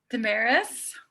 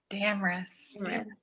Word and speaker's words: Damaris: else join us yay damaris or how do you say your name did i say it right no dang it it's damaris damn rests that's pretty thank you